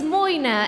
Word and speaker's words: Moina: my name is Moina, as Moina. in you gotta learn how to pronounce my name right. I said it right. I did. I said Moina. You said Myrna.